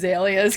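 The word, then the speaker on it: azaleas: the porch he's like it's not it's pronounced aelas cuz it was like all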